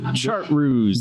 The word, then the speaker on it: Chartreuse: So that's what makes it a little bit weird to pronounce. Did I get kind of close? Yeah. Okay. And then, Chartreuse.